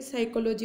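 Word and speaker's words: psychology: इसका best example आप पढ़ रहे होंगे, ये यहाँ पे यहाँ से शुरू होता है और ये जो पी है यहाँ पे साइकोलॉजी में पी साइलेंट होता है, और ऐसे यहाँ पे हम बोलना या जो साउंड है इसकी स्टार्ट करते हैं।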